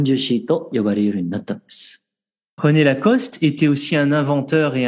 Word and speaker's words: Lacoste: salem acheter au japon on a tendance à prononcer lacoste et mais comme il n'ya pas d'accent aigu sur le final on doit dire lacoste dit cela ni romney